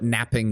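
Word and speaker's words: knapping: not napping I know but there's no pronunciation difference tenin and yes I know what napping with a K is it's the art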